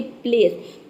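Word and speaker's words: place: अंत में आया है किसी भी वर्ड के अंत में अगर ई आता है तो वहां पे ई लेटर साइलेंट रहता है ई को हम प्रोनाउंस नहीं करते हैं यहां पे सी का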